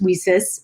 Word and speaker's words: WiCyS: acronym w-i-c-y-s and as we sis uh which is like pronounced like we sisters and so we're a